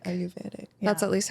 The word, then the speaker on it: Ayurvedic: a close friend who has like an Ayurvedic brand with like a bunch of different ritual oils, navel oils, things like that.